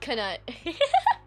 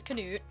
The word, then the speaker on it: Canute: That's how can pronounced? Yeah, it's not Canut. His name is not Ket. His name is Canute.